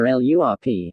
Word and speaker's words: LRRP: Or LURP, as the acronym is often pronounced, and which stands for